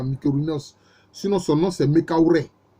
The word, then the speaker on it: Mykérinos: Il y a la pyramide du pharaon que les gens appellent improprement Mykérinos, ce qui fait, c'est un mot grec ça, Mykérinos, sinon son nom c'est Mekaouré.